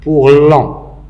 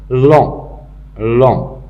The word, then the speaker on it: lent: Pour lent, il se termine par T. Le T est écrit, mais il n'est pas prononcé.